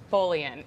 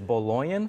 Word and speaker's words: Baloian: so yeah we're very excited okay great so bullying am i saying you're close it's been pronounced many ways sweet but no though what is it it is bologna farms yes yes so i'm sure i'm not